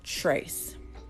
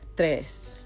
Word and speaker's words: tres: track um but yeah like the TR and tres like if you're looking at it in English it looks like Trace but it's tres it's kind of like